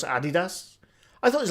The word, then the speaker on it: Adidas: See, when I was growing up, it's called Adidas. But then as you got older, you realise, no, it's pronounced Adidas.